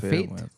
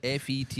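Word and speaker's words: fête: Is it like a fate? What? Is it like a fate? A village. Fate. Tell me more. Is this spelled F E T E is Oh, a fet.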